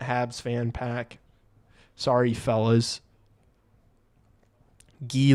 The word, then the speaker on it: Guy: Guy Lafleur, my hockey idol in 70s, pronounced Guy.